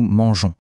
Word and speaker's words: mangeons: la terminaison on E, on ne prononce pas mais il est super important. Il force le G à garder son son doux, le son G. Et c'est exactement pour ça qu'on écrit "Nous mangeons."